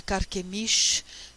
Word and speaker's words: Carquemish: Eu vou falar de uma batalha de Carquemish. Na Bíblia vocês talvez achem Carquemis só com um S, mas saibam que em hebraico esse S no final se pronuncia Shã, né?